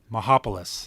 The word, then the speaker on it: Mihopulos: Mihopulos.